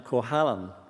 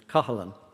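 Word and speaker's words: Cohalan: those uh later and i'm aware too that i pronounced the name kohalan and that's how his american relatives pronounce it but the uh i understand the cork uh pronunciation is column but that's probably too difficult for uh americans to get their tongues around so uh just as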